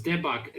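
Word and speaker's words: 대박: Debak. Oh, it's Debak. The AE is supposed to be for the... There are two kind of E's in Korean, but they're pronounced basically exactly the same.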